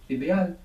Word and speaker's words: ideal: how it's spelled e try and pronounce each of those vowels as they are written I like ink e Like Elephant a like apple IDE good ideal how would say it's